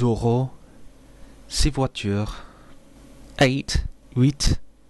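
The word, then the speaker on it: huit: see what you ate wheat you don't pronounce that final consonants before another consonant excepting dates also do not contract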